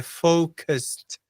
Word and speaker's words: focused: E a pronúncia é focused. Focused. Né? Acaba com T e daí não tem nada depois ali.